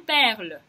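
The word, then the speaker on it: perle: Только «э» на конце не читается, и получаем «перль».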